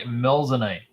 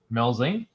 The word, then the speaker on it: Melzane: This is the Melzane, Oh, or some people would pronounce it Melzine. Melzine? The Japanese pronounce it Melzane.